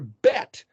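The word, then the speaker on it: בית: Israel or Bet Israel, the T, the Tav is pronounced as both the T and or the TH. So it's not, which one is right? Is it Beth or Bet? Doesn't matter. Pronounce it however you want.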